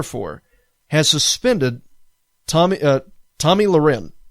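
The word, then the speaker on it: Tomi Lahren: Glenn Beck a guy that I really don't care for has suspended Tommy uh Tommy Luren. Okay, that's how you pronounce her name.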